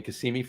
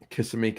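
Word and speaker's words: Kissimmee: I'm in Cassimi, Florida.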